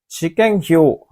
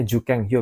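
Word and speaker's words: 受験票: Shikenkyo. Shikenkyo ini, kok Shikenkyo? Ini bacanya Jukenkyo, minasang.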